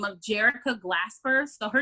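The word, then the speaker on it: Jerica: by the name of jericho glasper so her name is it's like erica with a j it's j-e-r-i-c-a and her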